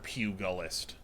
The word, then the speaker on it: pugilist: g i f great it's like jill i bet you didn't